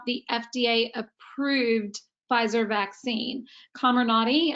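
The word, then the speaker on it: Comirnaty: fda approved pfizer vaccine camera nadi i believe is the way that you're going to pronounce that um is that actually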